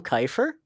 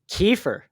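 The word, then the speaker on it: Keifer: So, first and foremost, I'm going to say, did you say Tom Kyer? Is that not how you say it? Kefir. Kefir. Yes. I was gonna say because some people some people do say it like just by like how it's spelled because some people like drink kefir or you know and then like some people say kefir so like but I've always known it as to be kefir so we're going to run with that.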